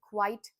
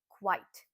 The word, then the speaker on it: quite: The first word is quite don't call it quit or something else please call it quite how are we going to say everybody quite.